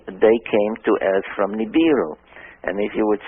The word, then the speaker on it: Nibiru: however you pronounce it i pronounce it nibiru nibiru another way of asking the sumerians how they pronounce this but but i would say nibiru nibiru this goes around every